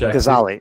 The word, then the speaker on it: Gazzaley: Adam Gazzaley, who is, and Adam, am I pronouncing that right? Just to double check. Gazzaley.